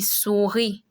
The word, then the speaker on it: souris: We can see the I sound in ami, souris. That IS will have the E sound. You don't pronounce the S. So you'll be souris, li, ni, ri.